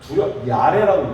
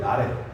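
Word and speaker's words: ירא: 야레라고 읽어요. 야레. 한번 따라해볼까요? 야레.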